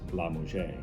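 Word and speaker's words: LaMusga: It looks like La Musca, but it's pronounced La Musja.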